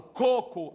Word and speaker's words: coco: Porque quando eu falo coco, a sílaba mais forte é o primeiro co.